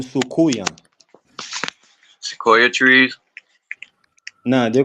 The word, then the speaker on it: soucouyant: And Trinidad, they call them Sukuya.